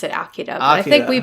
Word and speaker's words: Akira: This week, we are talking about the 1988 movie Akira. They pronounce it Akira, but I think we pronounce it Akira.